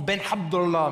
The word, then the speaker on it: Ben Abdallah: Ça se prononce Ben Abdallah, mais je n'assume pas trop, je crois, d'avoir un prénom français et un nom espagnol.